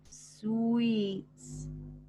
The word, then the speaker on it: suites: So this word here is pronounced suites.